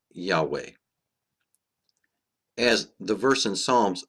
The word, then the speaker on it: Yahweh: the Christian Church testify that the name was pronounced Yahweh. As the verse in Psalms stated, his name shall endure forever. Isaiah chapter 12 verse 4 states, "And in that day shall ye say, Praise Yahweh, call upon his name, declare his doings among